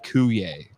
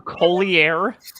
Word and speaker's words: Coulier: and the other one as Dave Coulier. Dave Coulier. I know I said it wrong, but What did you say? Collier? It was like cool.